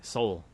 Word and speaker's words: Seoul: It's so fascinating how it has an E in the word, but it's spelt the same. It sounds the same thing. Soul.